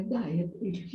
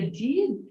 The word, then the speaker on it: dyed: Não é dyed. Você tingiu, né, o seu cabelo? Diet é tingir? Isso, com Y. Tá. Pronuncia die, não pronuncia did?